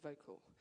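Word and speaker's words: Vokle: passionate about this uh this great program called vocal um using and it's spelled differently it's helping us yeah vocal spell v-o-k-l-e and when I met them um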